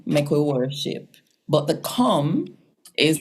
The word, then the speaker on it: Kom: Yes, because in our spelling system, you see the k sound, that's always K, never C.